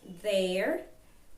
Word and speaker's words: there: Então, você vai utilizar a palavra there com o verbo to be, certo? Vamos treinar a pronúncia desta palavra. There, there. Nós temos aí o som do TH.